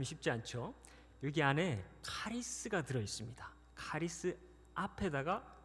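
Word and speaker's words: χάρις: 카리스마. 네, 잘 아시는 익숙한 단어이실 것입니다. 카리스마 한 번 더 하겠습니다.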